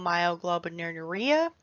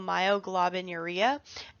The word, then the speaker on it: myoglobinuria: originally it was named atypical myoglobin urea sorry i butchered that atypical myoglobinuria and it its name